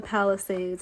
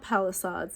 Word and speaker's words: Palisades: my heart goes out to the people in the Palisades. I want to make sure I'm saying it right. It's not Palisades, it's Palisades, I believe.